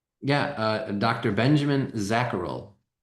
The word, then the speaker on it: Zacherl: Can you please say your surname because I'm not 100% sure how to pronounce it. Yeah. Uh Dr. Benjamin Zacharel.